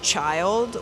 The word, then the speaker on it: Chylld: A guy who has the username of Child, which is spelled CHYLLD.